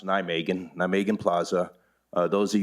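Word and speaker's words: Nijmegen: and i am developing it's pronounced nigh megan now megan plaza those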